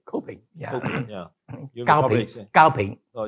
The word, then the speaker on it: Kopin: Do I pronounce it correctly? Kopin, yeah.